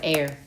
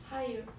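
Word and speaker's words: heir: air입니다. air. H는 묵음이야. 이예요? air. 하이어. air. 못 나오니.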